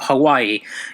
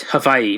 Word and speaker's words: Hawaii: W is a V its Hawaii not Hawaii its Hawaii but I'm gonna just say Hawaii for easy use the way I've also